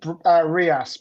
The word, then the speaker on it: real: what currency is used in Brazil will Brazilian RI BRS real yes that's right well done it's pronounced RI apparently my Brazilian friend tells me yeah right